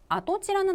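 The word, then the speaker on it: 跡地: 적자에가 땅지 자가 나왔죠 일단 앞에 붙은 발자취 적자는 훈독 Pro 발음이 됐습니다 그래서 아도라는 훈동 읽혔고 뒤에 있는 땅지 자는 원래 기본음의 치라고 읽혔는데 아 토지를 여러분 한국어로 해석하신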